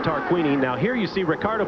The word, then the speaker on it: Tarquini: him get around you I've been mispronouncing his name all day long it is tarquini now here you see